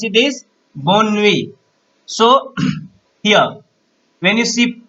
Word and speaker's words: bonne nuit: How to pronounce it is bonne nuit.